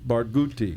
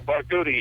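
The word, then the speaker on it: Barghouti: the block two days ago with um Omar bagadi or bagati how do you sayti baruti barouti yeah barti yes he spoke at UC Irvine Monday night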